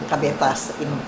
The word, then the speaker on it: Cabezas: Parang Cavite. With a Z. Cabet. Cabetas. Zas. Yeah. Cabetas, pronounced in Spanish.